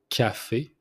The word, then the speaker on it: café: First one, the coffee, it's café, café. You pronounce the C like it's a K, so café.